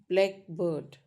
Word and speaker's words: blackbird: So please take care, the stress usually falls on the first element. Okay. For example, in compound word, blackbird. So blackbird is the type of bird, right? And when we say, right, versus black bird and syllable, that's a bird that is black.